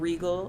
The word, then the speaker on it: Regal: on the end and regal as in royalty not the buick don't get it twisted